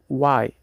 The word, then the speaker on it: why: Em why, o H é mudo.